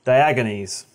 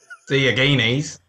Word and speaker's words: Diogenes: Getting Over It revolves around a silent man by the name of Diogenes. Okay. I'd have to go look up the actual pronunciation again.